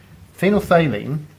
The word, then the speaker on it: phenolphthalein: bit of a mouthful it's phenom faylene and yes that is spelt P h t h right there that's a third sound phenolphthalein is a bit different